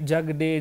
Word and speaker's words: Jagde: is actually very hard Jag it's fonetic Jag but how you write it and how you pronounce it it's very different I think it's the D that you're spelling as they jug the even day is fine okay jug day jug day jug day okay am